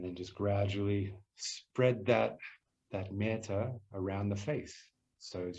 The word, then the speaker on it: Metta: And so as you breathe in with this soft, beautiful feeling, you can say me or met. 2 syllables. As we breathe out, Ta.